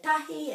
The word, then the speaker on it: tahi: So the E at the end of the word is always pronounced kore, kore. For 1, some people say tahi and some people say kotahi.